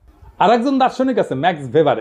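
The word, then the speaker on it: Max Weber: আর একজন দার্শনিক আছে ম্যাক্স ভেবার, এটা ওয়েবার বলে অনেকে, এটা উচ্চারণ আসলে ভেবার।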